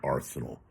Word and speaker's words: Arceneaux: say it again Eric Arsenal um I know it's Arsenal sounds like combat but he spells it I believe a r neux something like that if you spell it